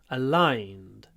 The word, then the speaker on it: aligned: our interests are aligned in this word aligned aligned try to get a lot of Y Al align aligned align aligned that will sound more natural not just aligned aligned